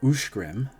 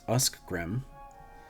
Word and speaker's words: Escgrim: ESCGRIM is Ushgrim and not Uskgrim.